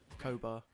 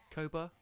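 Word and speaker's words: Koboh: But it's spelled K-O-B-O-H, as you think. But pronounced, I kind of say it. Maybe it's my accent. Cobalt. Koba. Koba?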